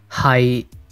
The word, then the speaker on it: 係: When read in Cantonese, it's pronounced 是 but the typical Cantonese word is 係 This character is also used in Mandarin and